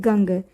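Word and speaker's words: ගඟ: हम सिंगले भाषा में गंग कहते हैं। तो इसमें जो नाक से हमें एक पार्ट आता है गंग। नाक की मदद से हम उसे उच्चारण करते हैं।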